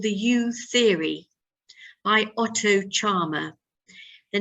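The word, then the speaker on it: Scharmer: I would recommend you to read a book called The You Theory by Otto Charmer. The name is spelled S-C-H-A-R-M-E-R, and I will write it in the chat box.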